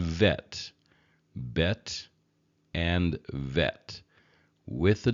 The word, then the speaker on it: vet: When the B vacates the letter, then there's a V sound, a V sound. So again, bet and vet, bet and vet.